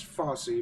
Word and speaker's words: Fosse: by choreographer Bob false I believe it's how you pronounce that which is the pretty sure it's Fosse but whatever it's not